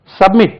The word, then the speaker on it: submit: Submit. ஆழ்ந்து நட, ஒப்புவி, அடங்கு. சப்மிட் பண்றது, தன்னை கொண்டு போய் சமர்ப்பிப்பது, சப்மிட் பண்ணுவது. SUB, submit, MIT, submit, submit, submit. அப்போ second syllable, submit, submitted, SUB, MITTED,